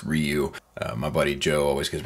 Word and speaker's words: Ryu: today we are looking at the sh figuarts rayu or as it's properly pronounced Ryu My Buddy Joe always gives me a hard